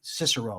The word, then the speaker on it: Cicero: natural loss I mean Cicero or Kickaro however you want to pronounce it so the idea of